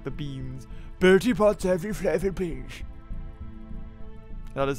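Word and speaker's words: Bertie Bott's: Bertie Potts every flavored beans.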